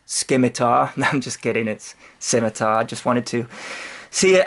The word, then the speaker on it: Scimitar: for correcting how I say scimitar so it's pronounced scimitar mount just kidding it's scimitar I just wanted to see how many people